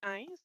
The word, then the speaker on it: Heinz: If you could correct me on the pronunciation of your last name to begin with, that would be great. Merci, Monsieur le Président. Donc oui, Hines, simplement. Yes, Hines is my name, and thank you very